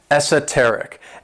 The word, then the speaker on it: esoteric: my favorite adjectives is esoteric and this word has four syllables and the stress is on that third syllable s tarik and when we describe